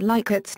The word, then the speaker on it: Likert: Rensis Likert, the developer of the scale, pronounced his name Likert with a short I sound. It has been claimed that Likert's name is among the